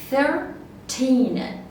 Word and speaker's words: thirteen: this number is very easy we will make a stress in the second syllable we will say thirteen thirteen thirteen okay you got that